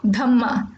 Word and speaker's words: Dhamma: And in Buddhism R is not pronounced and that is the reason they call Dharma Dhamma. Similarly Ajatashatru is also called as Ajatasattu.